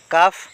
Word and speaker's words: কাফ: would would মানে ভবিষ্যতে হব ইয়াতে এল টো সাইলেন্ট বর্ণ হইয়াছে কাফ কাফ মানে গরুপওয়ালি ইয়াতে এল সাইলেন্ট বর্ণ কাম